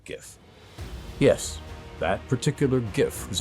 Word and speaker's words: Giff: Now, hard G when you're talking about this particular Giff.